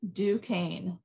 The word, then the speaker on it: Duquesne: people have no idea it's actually a french word and duquesne is is how it's